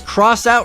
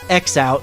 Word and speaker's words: X-Out: from 1989 and yes it's actually pronounced cross out not xout which caused me to